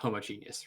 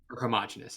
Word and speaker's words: homogenous: but it's not like homogenius right yeah homogenous I guess it's the way you pronounce words isn't that the correct pronunciation what homogenous yeah I